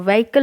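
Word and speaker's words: vehicle: गाड़ी है वकल है इसको व्हीकल पढ़ते हैं में एच साइलेंट रहता है ठीक है तो कोई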